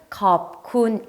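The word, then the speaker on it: ขอบคุณ: 여러분 대부분 은 " 캅쿤 " 이라는 말 을 들어 보셨겠지만 , 정확 한 발음 은 " 콥쿤 " 입니다 .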